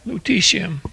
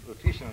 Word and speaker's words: lutetium: How do you pronounce that, Jack? Lutetium Lutetium.